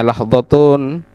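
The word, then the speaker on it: لحظةٌ: Lahdhatun itu kalau kita lihat terjemahannya ini bacanya lahdhatun.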